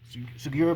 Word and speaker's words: Takeshi Sugiura: Takeshi Sugiura, that's how you say it. Sugiura versus Kushida.